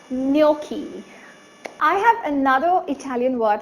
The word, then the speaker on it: gnocchi: So it's called gnocchi.